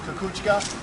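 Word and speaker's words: Kukučka: Like I explained to you, he came from the Czech Republic, and what's ironic is my name is pronounced Kukuchka, and it's also from the Czech.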